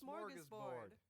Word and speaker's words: Smörgåsbord: This is Smörgåsbord.